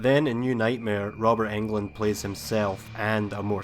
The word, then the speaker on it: Englund: was played by Robert Englund over eight movies and yes it's pronounced England if you don't believe me just look at this clip from New Nightmare let's say hello to Robert Englund told you but he